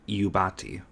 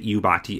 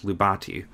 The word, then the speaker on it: Iubati: used by the website, most people mistook the I for an L. This is the reason why many people, even today, mispronounce the Iubati as Lubati.